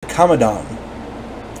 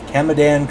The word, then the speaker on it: Kamadan: going to get surprise kamodan kamadan kamodan however you want to pronounce it k a m a d a n the konon is a